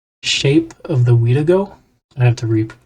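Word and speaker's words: Wendigo: We've got Shape of the Weedo. Shape of the Wedigo. I have to re pronounce that because I got it wrong.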